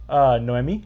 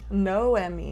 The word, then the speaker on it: Noemi: Noemi. Noemi. Yeah. Oh. So like the way she says is like a no Emmy for me or you. You know, like when you win an Emmy.